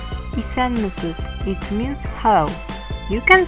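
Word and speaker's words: Исәнмесез: Let’s greeting each other in Russian ZDRAVSTVUITE in Tatar ISƏNMESEZ ISƏNMESEZ it’s means Hello!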